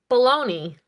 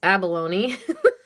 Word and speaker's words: abalone: And as Kyle likes to say, baloney. Yeah, it's abalone. Super sweet.